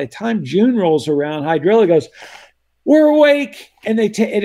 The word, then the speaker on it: hydrilla: and they went that's hydrilla uh it rhymes with Godzilla uh it's horrible it's